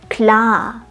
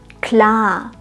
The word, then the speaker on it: klar: ein sehr interessantes Wort hier haben wir ein langes a genau zuerst ein kurzes a in alles und dann ein langes a in klar um ein schönes langes a auszusprechen solltest du den Mund weit aufmachen und zwar weiter als in deiner Muttersprache am Anfang ist es